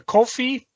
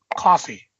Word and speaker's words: Ko-fi: The first thing is that the Ko-fi, Ko-FY, where you can find her work, is pronounced coffee. No! So it's not Kofi Kingston? Nope, it's coffee. Coffee.